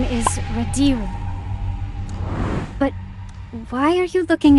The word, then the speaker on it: Radiru: The Radish clan is finally #1. Jinu, sir. It's pronounced Radiru.